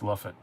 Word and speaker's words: Lafayette: in georgia called lafayette it's pronounced luffit sounds right i got